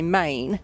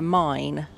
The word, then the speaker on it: Main: is called the mine so it's spelled m AI m a a i n which I would say main but it's actually called the mine and what you can